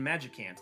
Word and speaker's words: Magicant: Thus, it is pronounced like the word magic combined with the word can't. In Mother 2, Ness is completely naked while in Magicant.